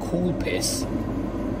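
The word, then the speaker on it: Coolpis: but um this kind of drink is called cool piss that's what it's that's how it's pronounced for a cool piss that's that's something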